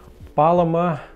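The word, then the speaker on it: Paloma: подписчиков Спасибо тебе друг Я теперь знаю как это правильно произносить Итак Палома Да вот так ребята А в переводе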